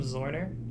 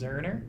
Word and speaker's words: Zorner: I say everyone calls him Zorner, including us for the first week until he got yelled at by his grandma. I think I it was. wasn't It was actually pronounced Zerner. You don't Zerner. say the O.